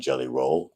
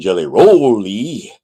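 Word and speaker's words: Rolle: Although the E is silent, you don't hear me saying Dr. Reverend Jelly Rolly or Dr.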